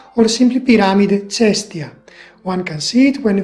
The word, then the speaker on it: Piramide Cestia: In Italian it is pronounced Piramide di Caio Cestio or simply Piramide Cestia.